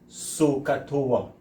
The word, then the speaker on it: SOHCAHTOA: I hope we can pronounce this word. And what they say is sokatoa.